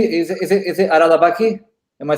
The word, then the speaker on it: Haralabaki: Do I say is it Haralabaki?